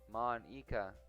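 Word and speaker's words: Monika: all people because train your name Monica yeah that's how you say my name at all also that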